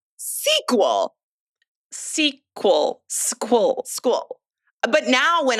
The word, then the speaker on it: SQL: is and pronouncing it squill. Squill. Apparently, it's pronounced sequel.